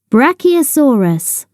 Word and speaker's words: Brachiosaurus: How do you say it? Brachiosaurus. Say Brach-E-O-Saur-us.